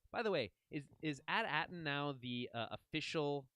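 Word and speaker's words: AT-AT: the way is is at Aton now the uh official like way for us to know that the at8 is just pronounced atat I mean don't they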